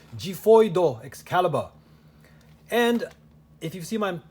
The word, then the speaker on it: Xiphoid: I gotta say it like the Japanese. Xiphoid Xcalibur.